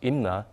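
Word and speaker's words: 임나: found to be using the name MIM pronounced IMA in Korean when referring to Korean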